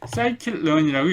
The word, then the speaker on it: scikit-learn: 이 sklearn은 scikit-learn이라고 읽습니다.